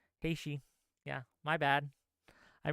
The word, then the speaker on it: Haiti: say hes LS uh yeah I mispronounced Haiti I'm sorry haii yeah my bad I